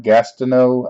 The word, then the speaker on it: Gastineau: this guy's name correctly Mark Gastineau I believe it's pronounced I got him and